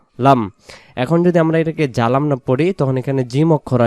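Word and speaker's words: ظلمنا: রব্বানা, না এগালিফ, রব্বানা জলামনা। জালামনা বললে এখানে জ অক্ষরটা জিম হতে পারে, কারণ জিম জবর যা, জ জবর জ, তাহলে এখানে আমরা জলাম না মানে জুলুম করেছি, মানে জুলুম করেছি এটা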